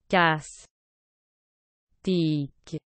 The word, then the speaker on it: Castex: province historique de gascogne son nom de famille prononcez casse tic est une cartographie du